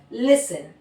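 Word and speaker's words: listen: एस टी ई एन अगर है लास्ट में वर्ड के किसी एंड में तो वहां पे टी को प्रोनाउंस नहीं किया जाएगा। वहां पे किस तरह हम पढ़ेंगे? फैसिन लिसन, मोइसिन, हसन। ठीक है? टी को हम साइलेंट रखेंगे।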